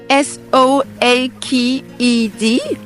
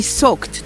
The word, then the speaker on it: soaked: belle d'abord s o a K du mot s o a K E D qui se prononce soaked et je vous l'avais enseigné pour vous enseigner notamment une expression qui signifie être trempé jusqu'aux e to be socked to the skin to be socked to the